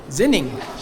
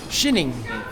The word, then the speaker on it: Xining: How do you say it? Xining. Shining. Shining, China.